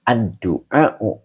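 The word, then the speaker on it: الدُّعَاءُ: Ini bacanya aduau iladdini wahua mudof.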